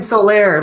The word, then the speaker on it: Solaire: We're getting that amiibo of that guy that I can't pronounce his name. Someone say his name is fucking Solaire, Lucas.